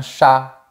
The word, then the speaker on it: chat: On a aussi la lettre T qui ne se prononce pas à la fin des mots. Par exemple, un chat, un fruit, un haricot, un lit et cetera.